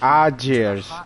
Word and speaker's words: Aegir: Aegir's. Hey, that AE is pronounced Ah.